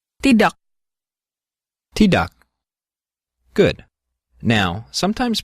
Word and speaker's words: tidak: The K at the end of a word is often pronounced with what's called a glottal stop.